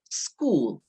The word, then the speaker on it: school: school it's cool in there so you say school yeah so be careful so ellie is 10